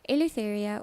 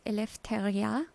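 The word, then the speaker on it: eleftheria: people that are watching elite area or actually how it should be pronounced is elepha is the greek word for freedom in other words liberty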